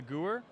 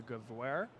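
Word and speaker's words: Gewehr: that a guarantees a I believe that it's a German word we call it the GU er but it's probably pronounced the guv where because a w is a V in German I don't know we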